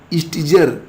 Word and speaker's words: Stijger: तो मैंने आपको नाम बताया था, हालांकि स्पेलिंग अगर आप देखोगे तो थोड़ा सा चेंज आपको देखने को मिलेगा। तो अब आप लोग इसको समझ लो कि इसको आप क्या पढ़ोगे। ठीक है, STIJGERWIL, तो विल्फ्रेड स्टीगर ये नाम है जिन्होंने इसको बनाया है।